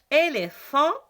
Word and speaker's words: éléphant: A-N, on ne prononce pas comme O-N ou bien O-M. Éléphant, trompe.